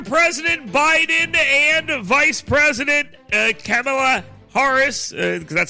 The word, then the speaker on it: Kamala: Under President Biden and Vice President Kamala Harris, because that's how you pronounce her name correctly, the number of unaccompanied